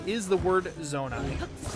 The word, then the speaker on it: Zonai: And yes, the correct pronunciation is the word zonai. pronounced just like if you had a zone for your eye, you know.